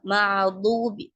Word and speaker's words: المغضوب: என்ன சொல்லுவாங்க அப்படின்னா மஅசூபின்வாங்க சிலர் மஅலுபி அப்படின்வாங்க. அப்படி படிக்கக்கூடாது. மஅதூபி தோது 2 கடவாய் பற்களோட இருந்து ஹெவி பண்ணி அதை உச்சரிக்கணும்.